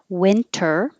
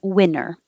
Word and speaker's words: winter: you can say sofa winter you can say it with the t totally perfectly correct and you can also say it without the tea you can drop the tea and say winner so winter coat with lots